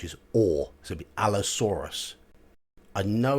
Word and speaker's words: Allosaurus: hear you've got Allosaurus a u r in British English is or so be Allosaurus I know it's a